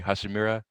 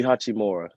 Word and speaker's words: Hachimura: I can't pronounce his name. Rui Hashimura. So Rui Hachimura.